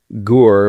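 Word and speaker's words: HUR: So, Gore, which is Ukrainian Military Intelligence, or HOR, if you want to uh sometimes pronounce it, um they they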